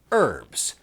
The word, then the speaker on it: herbs: Well, I mean, you know, herbs, we Americans say herbs. You Brits and you various peoples of the world under cultural the Brits may be wondering, "Hey, why do you Yanks not pronounce the H in herbs?"